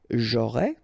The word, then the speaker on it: j'aurai: J'aurai, remember, A and O together will produce this O sound.